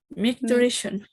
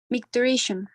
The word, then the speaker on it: micturition: I want to know the pronunciation of the synonym of urination, the other word. Micturition. Micturition.